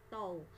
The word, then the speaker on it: tau: jadi momen gaya itu simbolnya seperti ini bacanya adalah tol jadi momen gaya atau